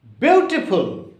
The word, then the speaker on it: beautiful: Beautiful. It has a diphthong. Beautiful. E-A-U. It is a diphthong. There are three vowels, but it has the single pronunciation U. Beautiful. So the stress should be here.